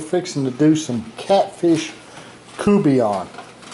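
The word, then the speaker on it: courtbouillon: to do some catfish kubeon it's written out like quart and bouillon but it's pronounced kubian by the cajuns and it's catfish cubeon these are some catfish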